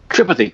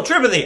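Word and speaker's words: Tripathi: r i p a t h i oh tripathy oh tripathy oh yeah oh you just say it differently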